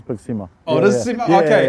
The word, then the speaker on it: Big Sima: Because a lot of people just say Big Sima, but it is Big Sima.